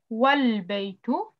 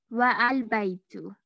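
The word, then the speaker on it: وَالْبَيْتُ: If it's preceded by another word, it is dropped in pronunciation, though it remains in the writing.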